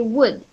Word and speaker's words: would: that we're talking about is pronounced but without the ill you only say would I would like or